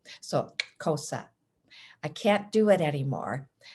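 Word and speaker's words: Xhosa: and cosa cultures so you heard me pronounce cosa with a click as i said the word so the x is said using the k sound along with a click and the side of your cheek and i learned this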